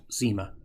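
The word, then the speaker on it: nsima: in the form of porridge called sima, pronounced zima.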